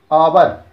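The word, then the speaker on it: hour: तो हो रहा है आवर, लेकिन उसका जो प्रोनाउंस निकल के आ रहा है वो आ रहा है बॉबल से, आवर, आवर जो है।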